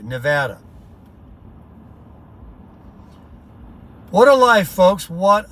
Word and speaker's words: Nevada: me listen to this welcome to Nevada see she says it right I've heard it enough times now that I say it right Nevada what a life folks